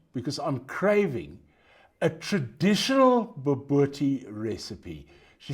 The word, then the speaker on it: Bobotie: to try, and she spelt it out here phonetically, all of them want to try your Bobotie. Bobotie. Okay. Bobotie.